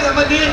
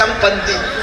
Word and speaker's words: சம்பந்தி: சோறு தின்னுட்டு போறாரு பாருங்க சம்மந்திங்கிற உச்சரிப்பே தப்பு சம்முனா நல்ல மந்திரா குரங்கு வாங்க நல்ல குரங்குங்கிறான் அவரா ஆமா குரங்குன்னு சோறு தின்னுட்டு போறாரு அப்படியா சொல்றது தமிழ் வளத்துல நம்ம அப்படி சம்னா நல்ல பந்தம்னா உறவு வாங்க நல்ல உறவேன்னு கூப்பிடுறோம் சம்பந்தி பாகருக்காய் கசக்குது இல்ல கதக்குதா